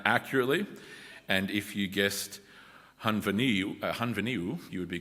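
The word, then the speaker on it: Henfynyw: first $10 prize is for anyone who can pronounce the name of that town accurately, and if you guessed Hunveniu, you would be correct.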